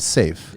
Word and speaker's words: Seaf: And Safe. Yes. But it's spelled S-E-A-F, right? Yeah, Safe in Arabic stands for sword. So it's not, swords? Yeah, it's not safety.